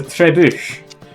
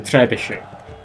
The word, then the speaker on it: trebuchet: I know it's not how you pronounce it, but it's a trebuch. I refuse to pronounce it as anything else. It's much more fun than saying trebuchet.